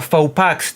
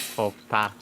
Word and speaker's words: faux pas: No, it's faux pas. Yeah, that is such a faux pax to do. Faux pas? Yeah, it's such a faux pax. How do you... X is silent.